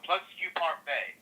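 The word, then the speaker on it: Plus Que Parfait: This horse actually is pronounced Plus Q Parfait.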